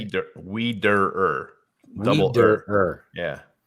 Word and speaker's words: Wiederer: Wiederer.